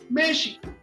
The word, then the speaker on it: México: al español, y entonces las entonaciones o las palabras cambian, como México, que se dice México.